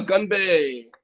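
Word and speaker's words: 건배: Uh gunbae. Gunbae? Gunbae, Mr. Shoot. All right, it but it's like it's like gun not gung, right?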